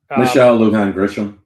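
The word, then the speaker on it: Michelle Lujan Grisham: Mexico, because her what her what's her Michelle Luhan Gisham, the Luhan part. I wasn't trying to pronounce Michelle Luan Gisham.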